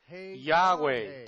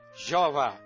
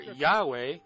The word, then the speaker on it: Yahweh: O mundo se afasta ainda mais dessa verdadeira pronúncia, pronunciando erradamente o Yod como J, Jeová, nem mesmo perto da pronúncia correta.